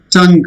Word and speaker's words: tongue: Tongue. There is no sound like U. So G is pronounced. U is silent here. U. U is silent. Not tongue. U. It is tongue.